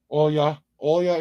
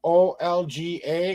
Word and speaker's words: Olga: hello Olga all y'all is how you pronounce your name it's the o l g a is how it's spelled how it's pronounced as all all ya so that's how we're gonna say all ya so oh yeah kind of it should be Olga in English but it's oh yeah is what she what people would